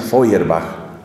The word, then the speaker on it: Feuerbach: El siglo XIX es el siglo de un hombre llamado Ludwig Feuerbach, que se escribe Feuer, B-A-C-H. Se pronuncia Feuerbach.